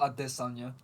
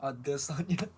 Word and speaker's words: Adesanya: No, it's Israel Adesanya. You gotta say it right. You like it when he says it his style. Adesanya.